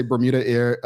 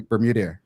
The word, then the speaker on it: BermudAir: pronounce it right um people still say Bermuda a um you know I just say just say it with me bermude bermude bermude um it's it's it's